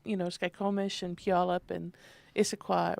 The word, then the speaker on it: Puyallup: You could always tell a new newscaster whether they could pronounce, Skykomish and Puyallup and Issaquah, right? I had to have it broken down from her. Squim. Y'all, like y'all, up, Puyallup.